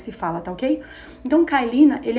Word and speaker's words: Kyleena: é karina que se fala tá ok então calina ele é um diu de baixa dosagem então